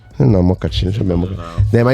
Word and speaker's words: Amokachi: My name is Daniel Amokachi, and I'm like, no Amokachi.